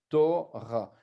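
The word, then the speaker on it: תורה: Ensuite, on a le Resh, en dessous duquel on a le A, le Kamatz qui fait A. Torah. Et le E muet. Voilà donc notre Torah.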